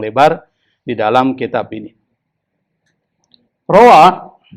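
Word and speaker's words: روى: Rawa, jadi bacanya rawa ya, jangan rawiyah.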